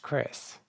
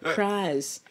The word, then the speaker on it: Crys: my name is pronounced wait is your name not pronounced Chris it absolutely is you not believe how often I get called cries you would not believe